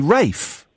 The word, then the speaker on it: Ralph: We all know it's spelt Ralph, but why do we say Rafe?